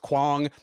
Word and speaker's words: Quang: His name is pronounced Quang, and his nickname is Bang. They don't rhyme.